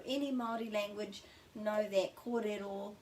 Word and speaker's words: kōrero: maori language know that korero means talk is the pronunciation and there's a macron here and we've got two